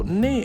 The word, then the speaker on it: 那: So ne and na, different pronunciations for the same character. Ne more up in the north where I live. I'm in Tianjin next to Beijing. And na more in the south.